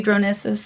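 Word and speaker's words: Dronisos: It's just, and it would be Dronesis.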